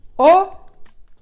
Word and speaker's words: ho: О, хо, пишеться як хо, а читається як о, пам'ятаємо.